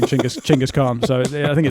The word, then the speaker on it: Chinggis Khan: But we're in Genghis Khan. Now, that's not how you pronounce it. you pronounce it, Finn? Chinggis Khan. Which is which is close, isn't it? Chinggis Khan.